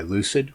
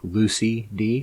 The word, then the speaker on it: Lucyd: But they are made by Lucyd, which is spelled like Lucy D, so Lucyd.